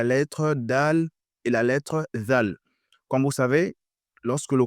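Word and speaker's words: ذال: Ici, il faut faire attention lorsqu'on prononce. On dit la lettre Zal. Zal. On fait sortir la langue. Zal, on met sur les dents.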